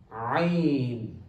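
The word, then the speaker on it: ع: Many people find it difficult to pronounce this letter, but it's still simple. Just listen carefully. Ayn. We started with this sound, the ayn sound. Ayn, not ayn, ayn. So don't pronounce ayn as alif.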